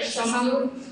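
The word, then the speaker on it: Sesshomaru: Okay, so for my number two is Shishamaru. Did I say it right? Yep. Shishamaru.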